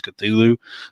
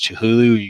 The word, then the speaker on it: Cthulhu: was formerly known as Cthulhu, but she pronounced it as Chihulu.